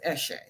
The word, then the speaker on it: Eshe: But for me and my company, it's pronounced Eshe.